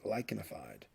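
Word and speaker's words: lichenified: and that is termed lycanified the ch here is pronounced like a k lyconified and this is just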